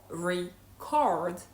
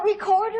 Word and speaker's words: record: If you say record, it means recording a presentation, recording a video or recording something, right? You bought me a video recorder. However, when you say record, it means something totally different, right? It can be a track record or like, do you understand what I mean?